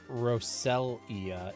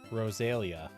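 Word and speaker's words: Roselia: It's not Rosalia, it's Rosalia.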